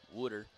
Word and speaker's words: water: of Makavoy's Philadelphia accent when Makavoy was saying water. And that is how they say it. Water ice. Wooder. It's like w o der. That's how they say it in Philadelphia.